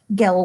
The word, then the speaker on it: girl: there's a good girl gal was the way he pronounced girl no Andrew dear said